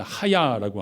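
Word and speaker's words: היה: 히브리어의 비동사에 해당하는 동사는 발음을 하야라고 하는데 그 기본형을 하야 동사가 생략이 되어 있어요.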